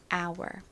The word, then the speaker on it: hour: 단어는 발음이 어떻게 되나요 가장 앞에 h 묵음이 소리가 나지 않으니 U 아에 our 소리만납니다 hour이 단어의 의미가 뭐죠 시간을